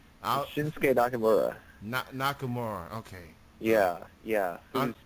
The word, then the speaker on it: Shinsuke Nakamura: I'm terrible at pronouncing people's names. Shinsuke Nakamura.